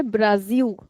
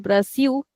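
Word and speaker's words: Brasil: The Brazilian people will never say Brazil. They'll say Brazil. So Brazil becomes Brazil. Now be careful that in English we write the spelling like this with a zed. But in Portuguese it is actually an S.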